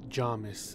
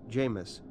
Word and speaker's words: Jamis: ended fights is called Jamis I've heard some people pronounce it Jarvis but it is Jamis as pronounced by Frank Herbert Javeed as you can